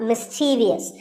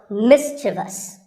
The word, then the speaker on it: mischievous: in the word mischievous this is not mischievous there is no i after the v the last syllable is just so mischievous and then there are